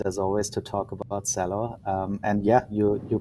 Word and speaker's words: Celo: here very excited as always to talk about cello and yeah you you pronounce it uh quite right it's a esperanto